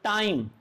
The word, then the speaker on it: time: जैसे मैं आपको एग्जांपल देता हूँ, TIME, ई तो साइलेंट रहेगा। अब इस वर्ड को क्या बोलते हो, टाइम। अब आई आया, आई की आवाज आई, पहले ट की आवाज आई, फिर हमने क्या लगाया, आई, और फिर हमने क्या